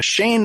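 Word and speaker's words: Sein: over to Ireland, to Shane McKay. It's spelled S-E-I-N.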